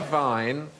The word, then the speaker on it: Wein: But the Germans say vine and spell it with a W.